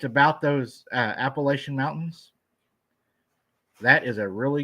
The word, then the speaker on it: Appalachian: or appalachin appal where depends on where you're from how you say it Kentucky it's Appalachian hey I'll tell you